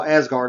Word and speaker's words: Asgard: s card yeah well as guard I just I prefer to pronounce it that way with a little bit accent but and Asgard is a huge place